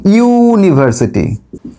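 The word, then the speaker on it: university: ইউনিভার্সিটি, উচ্চারণটা করো ইউনিভার্সিটি। তো দেখো প্রথমে কিন্তু এখানে কি আসছে? ইউ এর মতো উচ্চারণ আসছে।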